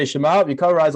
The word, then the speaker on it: Shema: how do we say shimab we cover eyes like this and i'm going to teach you how to say it uh properly you say shema yes and then you